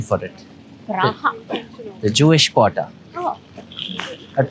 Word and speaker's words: Praha: Praha, the Jewish quarter.